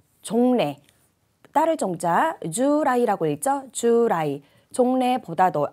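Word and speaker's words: 従来: 자, 정답은 자, 미래가 아니라 이 부분을 좀 종래, 따를 종자 주라이라고 읽죠. 주라이.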